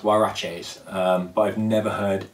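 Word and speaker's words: Huarache: of mine um nike i've always called them horror haraches but apparently they are pronounced waraches um but i've never heard anyone ever say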